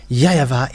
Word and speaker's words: YAHVAH: The W for them, they pronounce it as V or B. It must be either of them. So here it is really seen, the W is really V, but it's the Western who changed it into Wu. But in Eastern countries, it's the W, they really pronounce it as V, not Wu.